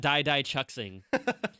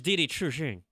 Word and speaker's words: Didi Chuxing: Didi Chuxing? Chuxing. Like, Chuxing? It's not Dai Dai Chuxing. It's Didi Chuxing.